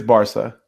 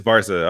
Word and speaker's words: Barca: It is Barca. It is Barca.